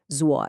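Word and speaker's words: 左: Zoa is a third tone. And remember, this is not a flat sound. It has a very distinct contour. It falls and then it rises.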